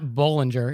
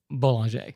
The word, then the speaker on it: Bollinger: And it's not Bollinger, it's Boulanger.